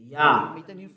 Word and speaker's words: Yah: How to pronounce it? Yah. According to the Hebrew, when you see this word, it is read Yah in Hebrew.